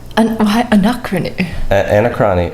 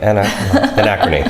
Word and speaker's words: Anachrony: Anachrony. Anachrony, that's how it's pronounced.